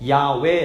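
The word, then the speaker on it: 야훼: 를 붙이는 것이 아니라 아에 라는 몸을 붙여서 야외에 라고 발음하는 것이 더 정확한 발음 이라고들 주장을 합니다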